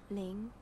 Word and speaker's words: Ling: objectification don't call me ling it's your name not with a hard l and hard g it isn't it's a soft name ling you say it ling